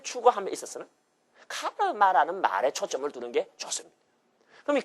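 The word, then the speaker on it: कर्म: 전혀 사용되지 않았습니다 알다시피 원래이 말의 원어에 해당하는 발음은였다 카르마 한번 따라보세요 카르마 뭐 별로 힘든 발음도 뭐도 아닙니다 한번 더 따려 봐요 카르마 가리마 아니고 어 카르마이 카르라 하는 말을이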